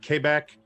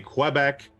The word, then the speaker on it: Quebec: can say it like K back you can say Quebec um Quebec yeah but yeah yeah